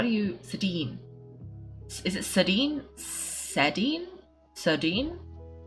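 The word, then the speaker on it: Sedene: wrong, because I was calling her like Sedan, and you were like, no, Keiko, you're doing it wrong. But I forgot what the correction was. Sedine! Did I say it right then the second time?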